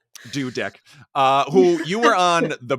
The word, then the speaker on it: Dudek: It's Dudek, like you built a Dudek.